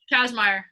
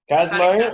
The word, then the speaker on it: Kazmaier: Kazmaier. Kazmaier.